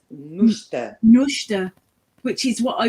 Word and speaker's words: Nuchter: And That's the English pronunciation. In German, it's pronounced Nuchter.